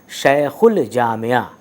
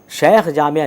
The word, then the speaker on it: شیخ الجامعہ: لام کے بعد جیم، جیم جو کہ حرف قمری ہے وہ یہاں پر الف لام کے بعد آ رہا ہے، اس لیے اس جیم کا تلفظ اور اس لام الف کا تلفظ ضرور ہوگا، اسی لیے ہم اس کو پڑھ رہے ہیں شیخ الجامعہ۔ شیخ جامعہ نہیں پڑھ